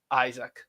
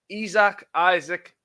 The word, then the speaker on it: Isak: have just signed Alexander Isak. Isaac, who knows? You'll have to let us know how to pronounce it properly. Sky Sports say it's Isak. Lots of people say Isaac.